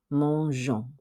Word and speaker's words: mangeons: Because your subject here is nous, remember verbs ending in GER add an E before O and S to keep the soft G sound. Therefore, the only correct answer is A, mangeons.